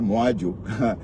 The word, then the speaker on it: Moadjo: C'est en banjounais ton nom, hein, Moadjo. que Moadjo. C'est la lionne qui m'a appris enfin à prononcer ton nom parce que j'avais du mal à prononcer ça.